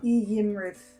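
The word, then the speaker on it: Iymrith: So the I at the beginning of the name is pronounced like an E. Yeah. E Yimrith.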